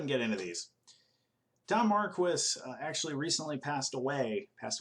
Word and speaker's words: Marquis: mispronounce mispronounce his name all the time it's Marquis that's how it's pronounced that is the correct pronunciation it's not Marquee it's not Marquis or anything weird like that it's just Marquis that's how you that's how you do it